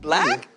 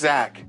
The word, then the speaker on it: Zach: After talking with fellow teacher Gregory Eddie, Jacob admits he wants to break up with his longtime boyfriend Black. It's actually pronounced Zack.